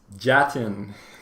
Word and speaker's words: Jatin: got capital j-a-d-i-n to make sure that you don't mispronounce jatin it's jatin guys so that's your reminder